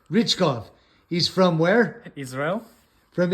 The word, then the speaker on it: Richkov: Richkov, Richkov.